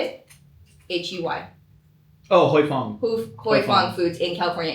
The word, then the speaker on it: Huy Fong: Oh, Huy Fong.